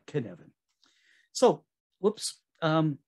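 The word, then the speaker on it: Cynefin: way i say it can is like kevin but ken evan so whoops um it's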